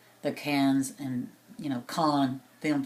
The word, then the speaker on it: Cannes: It's spelled C-A-I-R-N-S, but they pronounce it Cairns, kind of like the Cannes and, you know, Cannes Film Festival in front of it, but it's not.